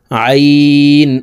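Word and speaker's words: ع: আইন উল্টা পেশ উ। গাইন উল্টা পেশ গু। প্রিয় দর্শক, আইন হরফের উচ্চারণ হলকের মধ্যখান থেকে চাপ দিয়ে পড়তে হবে।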